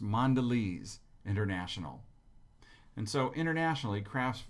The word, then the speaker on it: Mondelez: brand the craft came up with this is pronounced mondelez international and so internationally crafts craft foods will